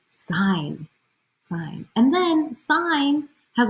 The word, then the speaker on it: sine: ratio sine ratio yes it's pronounced sign like a sign like si GN sine but it is not